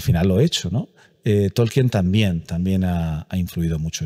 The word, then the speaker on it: Tolkien: si no os aventurándose tolkien tolkin como le gustaba el que se pronunciara yo me recuerdo con